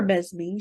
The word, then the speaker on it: Mesmee: Today we had Mesmee, pronounced Mesmee or Mesmee. She's easygoing.